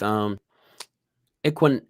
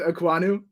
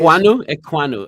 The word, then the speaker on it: Ekwonu: I mean, with Equan. I can't say his name. Say it again. I'm going with Ekwonu on pronunciation. Ekwonu.